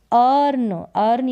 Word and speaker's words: earn: Late ने दो मी मुझे, अब क्या मुझे करने दो, अर्न यानी कमाना, अर्न। यहाँ पर ई का उच्चारण अ करके हो रहा है।